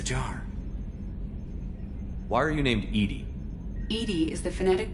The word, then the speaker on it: EDI: airlock is a jar why are you named Edy Ed is the phonetic pronunciation of Ed di that is an acronym